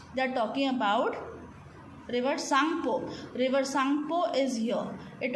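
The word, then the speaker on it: Tsangpo: T is silent here, so we will read it as Sangpo or Sangpo.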